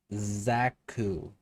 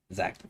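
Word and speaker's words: Xaku: Uh I need to get Zaku Prime. Another frame I slept I sleep on that I like. Definitely ultimate gun frame. Uh, I just the name again. Zaku. That's it. Zaku.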